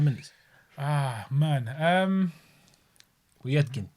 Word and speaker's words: Povetkin: Povetkin. It's not really. Povetkin. That's not how it's pronounced. Povetkin. Is it? Povetkin. Something like that. You've got to pronounce the V, bruv.